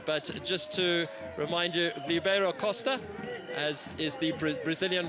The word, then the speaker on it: Ribeiro Costa: But just to remind you, Ribeiro Costa, as is the Brazilian pronunciation of his name, scoring a penalty effectively after just 3 minutes.